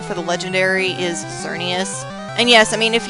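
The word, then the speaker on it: Xerneas: decided to get X I believe the right pronunciation for the legendary is xerus and yes I mean if you don't like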